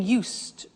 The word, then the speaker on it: used: I said used with a T sound. Used, not used or used. Used. That's very important to distinguish it from the other verb, use.